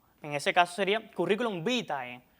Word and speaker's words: vitae: Ese diptongo latino del final de la segunda palabra se recomienda que se pronuncie como E, aunque también se puede pronunciar como el latín clásico. Así pues, lo aconsejable sería decir curriculum vitae.